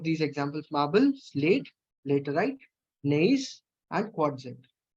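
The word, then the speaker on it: gneiss: Other than that quartzite and नेइस, इसमें जी silent है. नेइस and also finally quartzite.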